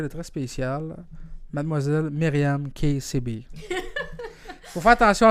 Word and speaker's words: Kessiby: une amie, quelqu'un de très spécial, mademoiselle Myriam KCB. Faut faire attention à son nom de famille, les gars. Elle a pas un nom comme les autres. C'est pas KCB, c'est pas Teddy, c'est pas Tigledy, c'est KCB.